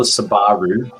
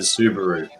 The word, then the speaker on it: Subaru: and the other one it's not a sabaroo it's a subaru you guys speak